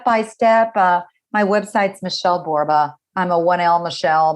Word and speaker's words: Borba: My website's Michele Borba. I'm a 1L Michele. My last name Borba rhymes with Zorba.